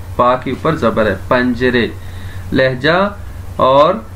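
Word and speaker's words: پنجره: پنجرے. لہجہ اور تلفظ صحیح کرنا ہے اپنے. پنجرے, پنجرے نہیں ہے, پنجرے.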